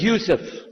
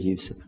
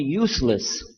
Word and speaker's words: Yusuf: My name is Yousef. Do you say Yousef? You said Yousef. Yeah. Very good. I wish you teach my wife. She keeps mispronouncing it. She calls me useless.